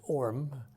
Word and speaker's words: Horham: The little town closest by was called Horham, H-O-R-A-M, although in England they don't pronounce the H's, it's Orm.